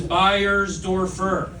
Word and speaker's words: Beyersdorfer: Last name is Buyers Dorfer, which for those of you counting at home is 12 letters, four syllables, and one number away from being a Wi-Fi password.